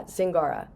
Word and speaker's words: Zingara: Can you pronounce your name to make sure I'm pronouncing it right? Yeah, Zingara. Zingara. Okay, just Yeah. like it sounds. Okay, I just wanted to make sure it Yeah. was like a soft G or something.